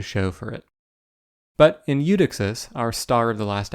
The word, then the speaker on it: Eudoxus: the star of the show was the astronomer UD doxis or at least that's what I led you to believe but I was mispronouncing his name the entire episode like some